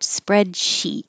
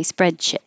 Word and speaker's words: spreadsheet: as sheet and and the sheet comes up a lot because of the word spreadsheet so it can be very important to not say spreadshit sheep is like eat and ship is like it so remember the difference